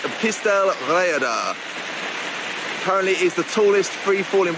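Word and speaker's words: Pistyll Rhaeadr: the welsh language but i believe you pronounce this pistel reader apparently is the tallest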